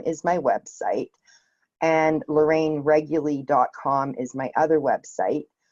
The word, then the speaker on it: Reguly: to hear an answer anyways yeah so Lorraine regularly no one ever ever gets the pronunciation of my name right but it's regularly and I run wording well wording well calm